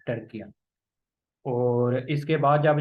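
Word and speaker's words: Türkiye: टर्किया को फतह कर लिया था। टर्किया, ये भी नेम चेंज हो गया, अब इसे टर्किया पढ़ते हैं। टर्की नहीं, टर्किया।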